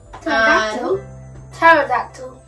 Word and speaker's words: Pterodactyl: Pterodactyl. Oh, that's how you spell it? Yeah, it's just the silent P.